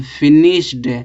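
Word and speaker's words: finished: ईडी जोड़ रहे हैं तो क्या निकलेगा, उच्चारण टा निकलेगा, तो फिनिश्ड, फिनिश्ड नहीं पढ़ेंगे, फिनिश्ड पढ़ेंगे, फिनिश्ड, टा पढ़ा जाएगा।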